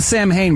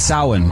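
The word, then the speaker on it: Samhain: She just pronounced it wrong. Yeah, she said Sam Hayne, but it's sin.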